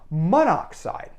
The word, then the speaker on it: monoxide: an awkward pronunciation problem we only really have this problem with oxide because it begins in O and so we get rid of the O here and mono and we get monoxide then we don't have